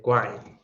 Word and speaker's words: Quine: Entonces, argumento de indispensabilidad de Quine, ¿no? Entonces, se escribe Quine, pero se pronuncia Quine, ¿vale?